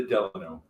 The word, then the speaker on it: Delano: do you pronounce it the delano yeah just like the president and it apparently was